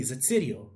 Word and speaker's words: Zatsirio: So it's just Z, and then this is a ts, essentially. Ts, Ir. This is a Y, an O. But yeah, you can see it's basically Zatsirio. It's spelled exactly how it is.